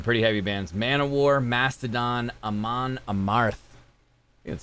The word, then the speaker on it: Amon Amarth: For fans of, and these are some pretty heavy bands, Manowar, Mastodon, Amon Amarth. That's how you pronounce it.